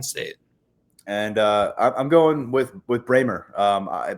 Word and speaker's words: Brahmer: And I'm going with Bramer. By the way, it's Bramer, Tyler. I was saying Brahmer until last week, and then I got corrected. So Benjamin Bramer is the pronunciation there.